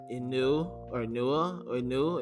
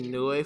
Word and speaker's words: Inoue: Inu is that how you pronounce it? I think it's Inoue. Yeah. Okay, Inoue for sure.